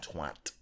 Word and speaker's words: twat: Twat.